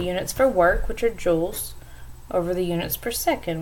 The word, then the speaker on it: joule: you say that or it's pronounced joules spell jou le now power just another